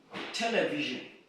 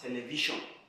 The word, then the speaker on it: television: Now the next one is in television. Now most times people are fond of pronouncing this word as television. Now this S stands for this sound. Television.